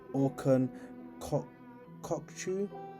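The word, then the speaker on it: Orkun Kökçü: he eyes up a move for Feyenoord midfielder Orcon Kokchu, I think is how his name's pronounced.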